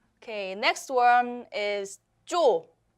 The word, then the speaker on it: 쪼: Okay, next one is 쪼, 쪼.